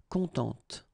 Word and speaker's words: contente: Of course, if you put the feminine form, then you will have to add this e, and then phonetically it will be a bit different. It will be contente, okay? So masculine, content, féminin, contente.